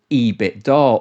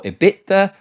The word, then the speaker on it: EBITDA: And there's a term in the world of finance called EBITDA or EBITA or EBIT whichever way you want to pronounce it.